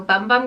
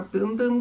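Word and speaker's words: Sol de Janeiro Bum Bum: the sole de janeiro bum bum cream or boom boom cream i think someone told me is how you say it um if you put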